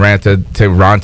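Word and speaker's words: Raanta: Is that when we had the 2 goalies, the 2 starting goalies, or Anderson and Ranta?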